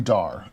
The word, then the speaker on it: Dar: Um, I don't expect you to know my madeup pronunciation. Call me Dar.